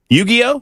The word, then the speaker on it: Yu-Gi-Oh: Uh, in, uh, you uh, it's yu-Gi-Oh H. Am I saying it correctly, Jackson? Yu-Gi-Oh. Yu-Gi-Oh is how you say it.